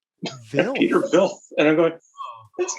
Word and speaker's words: Hvidt: It's actually pronounced Vilf. Peter Vilf.